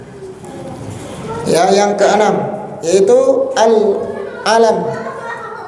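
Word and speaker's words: العلم: yang keenam yaitu Al Alam jangan dibasa jangan dibaca alilmu ya nanti bacanya alam alam alam itu apa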